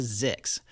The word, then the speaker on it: Zyxx: There's this new podcast out called Mission to Zix, and it's actually Wait a second. Zix? Zix, yeah. How do you spell that? ZYXX, just like it sounds.